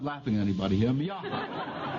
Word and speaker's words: Miaja: Now, I'm going to have enough trouble pronouncing them, much less identifying them. The first is Miaha. Now, I'm not laughing at anybody here. Miaja.